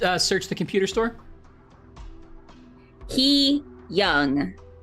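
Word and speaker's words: hyung: search the computer store he young he like h e e and then Young y o u n g y okay y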